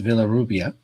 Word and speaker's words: Villarrubia: your last name well there are two ways to pronounce it in spanish and in english because i don't expect english speakers to pronounce it in spanish because it has sounds that don't exist in english so if you don't speak spanish is villarrubia like it's written